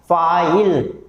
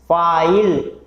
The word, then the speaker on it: file: फिर से प्रोनाउंस कीजिए आप, फाइल, फाइल, फा, आ, इल, आ और ई। और जो लास्ट वाला ई जो है वो इसके अंदर साइलेंट है, उसका कोई उच्चारण नहीं हो रहा है, तो इसके अंदर 2